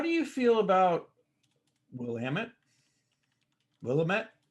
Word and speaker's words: Willamette: yep um now how do you feel about willamette willamette how do we pronounce it here in lemon this way we call it willamette yeah so it's peppery and uh herbaceous with